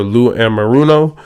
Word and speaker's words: Lou Anarumo: And their defensive coordinator, Lou Anarumo, I believe is how you pronounce his name.